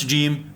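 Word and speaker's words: جيم: The articulation point of jim is the middle of the tongue against the hard palate, the middle part of your roof of your mouth. When you pronounce jim, your tongue should rise and touch the hard palate.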